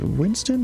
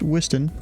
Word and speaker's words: Whiston: Is it Winston? Am I missing something in my cheat sheet? Missing a letter? No, I'm not. It's Whiston on the waypoint there. That's how we pronounce it, at least.